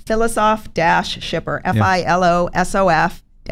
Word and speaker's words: Filosof-Schipper: easy but let's again your last name you pronounce it is Phyllis off shipper soft a few names